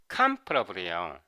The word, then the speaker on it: comparable: 동사가니까 이것도로 읽기 쉽잖아요 근데 이게 발음이 블이 아니에요 comparable에요 동사는 comp인데 형용사 형은요